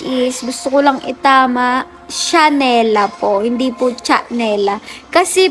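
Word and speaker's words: Chhanela: So kaya tatawagin siyang chanela chanela pero hindi po sh po yung pagkakabigkas parang yung sa Chanel pero chha siya ' ba So yung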